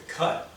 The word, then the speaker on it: kutte: the beginning of the cut only they for motor sp motorcycles speak we spell it k-u-t-t-e like a kate but it's uh it's